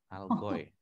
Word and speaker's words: Allgäu: Algoy. Oke. War im Allgäu. Algoy. Allgäu. Ya. Jadi kayak oi gitu.